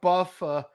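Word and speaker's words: Buffa: is highly banking on Buffer because it rhymes with tougher to be the winner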